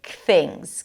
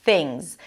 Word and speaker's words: things: Kick things. Kick things. And then when we connect things and off, the z sound of things. Yes, it's an S, but pronounced as a Z becomes the beginning of the next word.